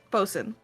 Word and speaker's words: boatswain: you didn't Master correct it's spelled both Swain and it's pronounced boats they didn't write they didn't write it as boatswain they wrote oh no